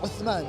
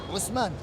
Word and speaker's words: Osman: Osman. Usman, That's yeah. how it's supposed to be pronounced.